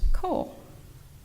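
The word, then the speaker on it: 光: This particular kanji for light is often seen in Jodo Shinshu texts and is pronounced ko.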